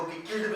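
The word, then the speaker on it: cichlid: Question, about 200 species of चिचिल्ड fish became, हालांकि चिचिल्ड को किकिल्ड भी बोल सकते हैं, आपको जो प्रोनाउंसिएशन करना हो करें।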